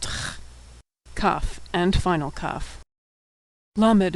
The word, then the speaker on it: lamed: Lamed is pronounced L as in lucky.